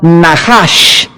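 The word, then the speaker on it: נחש: de Levítico, capítulo 19, es la palabra Nahash, se escribe Nachash. Dice en Levítico 19, versículo 26, no comeréis cosa alguno con sangre, no seréis agoreros, ni Nahash, ni adivinos.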